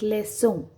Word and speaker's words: leçon: Okay, so it's not ka, it's not fonke, ka, it becomes sa, fonse, like leçon.